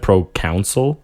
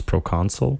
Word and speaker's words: proconsul: sure it's typed correctly oh but you pronounce it castellian it's and you said pro council when it's proconsul yeah no i legitimately